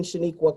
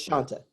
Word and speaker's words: Shanta: I have been Shaniqua quite often. It's Shanta. I also get Shantae or Shanae from Martin, if you remember that series on TV.